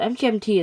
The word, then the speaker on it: MGMT: might think it's pronounced management but no they've stated specifically that it is that you say it mgmt not management so mgmt is kind of uh